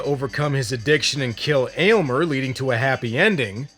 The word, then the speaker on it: Aylmer: Elmer. Elmer. Elmer? I thought it was Aylmer. Not Elmer. Aylmer.